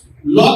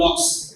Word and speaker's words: লক: এবং এই ধাপ্পাবাজি যদি বন্ধ না করেন, আপনি যে আমাদেরকে হবস লক তো ঠিক মতো উচ্চারণ করতে পারেন না, হবস এর পরে বলেন লকস। লকস কি আবার?